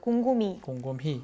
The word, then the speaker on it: 곰곰이: 이게 발음상으로 이로 발음이 되면 이가 맞아요. 곰곰이.